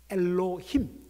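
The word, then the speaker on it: אלוהים: A번, 히브리어 성경을 보면 천사라는 말의 히브리어 단어가 발음을 이렇게 할 수 있습니다. 엘로힘, 따라해 볼까요?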